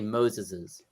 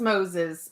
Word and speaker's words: Moses': At least in English, the apostrophe is after the S, indicating the possessive without adding an extra S, because it just sounds... But pronouncing, you don't pronounce an extra sound.